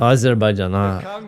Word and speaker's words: Azerbaijan: Azerbaijan not people are clapping because he's pronounced correctly which proceeds at a very low level.